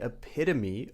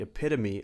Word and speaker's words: epitome: For example, she is the epitome of kindness. She always helps others out. Or you could say, Albert Einstein was the epitome of intelligence. Epitome. The stress is on the second syllable.